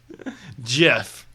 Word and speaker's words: GIF: GIF.